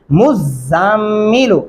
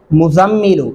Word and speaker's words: المزمل: ہیں، یا ایھا المزمل، یہ مزمل لفظ غلط ہوگا۔ اس کا درست طریقہ کیا ہے؟ مزمل، یعنی میم کو زا کے ساتھ، پھر زا کو میم کے ساتھ ملائیں گے، اور اگر آپ پڑھ